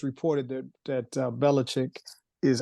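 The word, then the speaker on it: Belichick: it's reported that that bellich is I like to say bellachic because that's the way it's spelled but bellich um signed his extension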